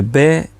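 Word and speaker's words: berith: Porque la palabra hebrea, que se tradujo aquí como pacto, es la palabra berit. Se escribe B-E-R-I-T-H, berit.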